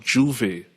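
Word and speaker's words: J'ouvert: Yeah, so what Marco forgot as well, there's something called Juve, or Juvert it's spelled.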